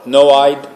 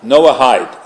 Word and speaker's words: Noahide: How do you pronounce that word? Noahide. Noahide. Is that the way you pronounce it? Yes. I never knew if the H is Noahide.